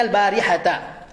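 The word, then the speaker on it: البارحة: Suriqal barihata, bacanya al-barihata.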